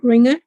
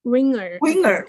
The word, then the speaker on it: Winger: Deborah Ringer?